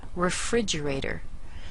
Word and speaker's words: refrigerator: give us a clue this syllable is pronounced fridge fridge now we have the